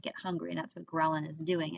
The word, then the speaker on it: ghrelin: you start to feel better almost immediately um ghrelin is how you pronounce this one ghrelin is a hormone called